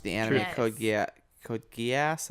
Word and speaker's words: Code Geass: entry code yet Code Geass I think it's pronounced yeah Geass yeah not code goose hit almost every single